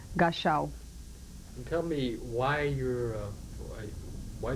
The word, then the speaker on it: Gashaw: Gashaw.